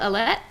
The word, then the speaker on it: Ellett: So, just to make sure we're pronouncing your name right, is it Ellett? Ellett. Ellett. Ellen.